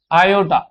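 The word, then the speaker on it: iota: एंड रेड एज आयot heart वाला आयोटा नहीं आयot आप ऐसे आई ओ टी ए इसको प्रोनाउंस ऐसे कर लो।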